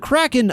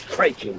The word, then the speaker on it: Kraken: Always heard it says Kraken. Oh, with a long A. No, no, no, no, no, no, no. Crockland's how it's pronounced in the original Scandinavian and Kland's closer to that.